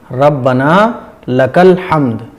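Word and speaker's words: ربنا لك الحمد: गलती क्या होती है र र इस तरीके से नहीं पढ़ना है साफ पढ़ना है रना लकल हमद रब्बना लकल हमद यह है सही प्रोनाउंस ठीक है इसकी प्रोनंसिएशन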